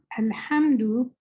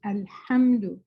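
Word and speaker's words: الحمد: So alhamdu, when we hear it, we repeat it several times. Alhamdu. Make sure you're pronouncing the ha correctly. It's not a ha.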